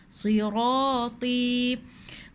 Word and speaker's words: صِرَاطِي: Ti panjang ada ya. Sirati mustaqima.